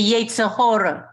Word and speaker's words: Yetzirah: I just wanted to say that in everyday Yiddish, I would pronounce it the Yetzirah.